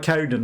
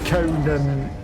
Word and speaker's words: Conan: which is you know why I said Conan not Conan I don't know if that's even a thing in America that they would be different pronunciations but to me Conan the Barbarian and conun the talk show guy okay we need to